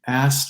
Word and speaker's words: asked: It gets even more, I suppose you don't hear the K, going back to that, ask me, you don't hear the K in the past tense of ask when you put another consonant after it.